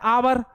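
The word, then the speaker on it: hour: जैसे हमने लिखा एच ओ यू आर तो है आवर लेकिन लेटर तो एच है लेकिन उच्चारण क्या आ रहा है?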